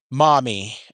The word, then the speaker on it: Maumee: This town is called Maumee. Maumee, I believe is how it's spelled. Maumee. Almost like mommy.